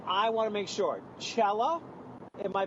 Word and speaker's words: Chella: Chella, am I pronouncing... Yes. Yes, Chella.